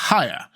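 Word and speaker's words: Haigha: happy his name is haer he pronounced it so as to rhyme with mayor I love my love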